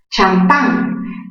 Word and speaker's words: champán: Champán viene del francés champagne. Champán, mayor fuerza en qué sílaba? En la sílaba pan. Es una palabra aguda, terminada en N.